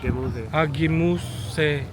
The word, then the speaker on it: Gemüse: Gemüse. Gemüse. Yeah, Gemüse. Gemüse. And ops is like fruit. Fruits. Fruit is ops, yeah. Fruits is Ops. of OBST. OBST, obs, obs Yeah. and Gemüse.